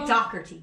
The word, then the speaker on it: Dougherty: into a million pieces because we say docker t dougherty dougherty that's why it sounds right he says that's how they pronounce it in ireland my ex-husband said that